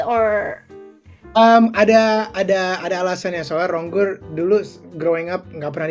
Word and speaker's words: Ronggur: Ronggur. Benar. Eh nama belakang gua si cuman stage name actingur pakai. Oke. So, it's it's just easier for Americans or Ada ada alasannya soalnya Ronggur dulu growing up enggak pernah dipanggil di